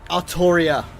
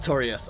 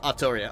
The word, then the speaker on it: Arttoria: Arttoria. Not Arttorius. Arttoria.